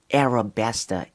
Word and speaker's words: Arabasta: so flipping Arabic guys so Arab besta sounds more appropriate it sounds more in line with with the setting with um the dress code guys um so for me Arab besta is the correct pronunciation guys for the island guys and yeah man